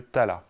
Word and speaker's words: tala: D'un côté, le raga, et de l'autre côté, le tala. Alors qu'on prononce rag et tal en Inde.